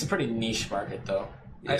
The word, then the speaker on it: niche: say that niche is correct. Yeah. Because it's a French word, so why wouldn't you pronounce it the French way?